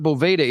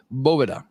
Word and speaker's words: Boveda: hell are you doing it is not BEDA it is BOA Caro Fuente had to